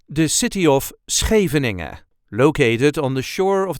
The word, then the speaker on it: Scheveningen: you will get it there's also a light emphasis on the first first part as you can hear